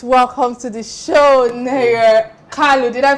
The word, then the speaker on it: Kalu: KALU, did I pronounce the name properly? KALU, right? Yes. Because I needed to put a touch of that Igbo pronunciation on your last name.